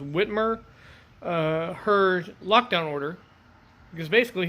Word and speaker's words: Whitmer: And if you've seen the national news lately, there is a 77-year-old barber who basically refused Governor, I believe it's pronounced Whitmer, her lockdown order because basically he's got bills to pay.